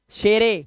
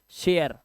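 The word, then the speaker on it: share: जैसे like, like, लाइफ, लिफे नहीं, शेरे, शेरे नहीं, शेयर, बस ई साइलेंट।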